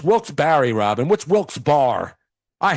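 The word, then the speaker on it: Wilkes-Barre: It's Wilks Barry Robin.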